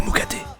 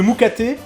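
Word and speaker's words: moukaté: Je le connais personnellement, c'est pour ça que je me permets de le moucater.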